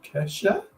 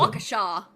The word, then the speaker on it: Waukesha: Waukesha. Okay. Yeah, so where you're omitting letters that are actually there, we're adding letters that aren't there.